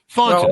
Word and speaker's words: Thornton: And am I pronouncing your last name correctly? Thornton. I've been saying Thornton, haven't I? Yeah. Thornton.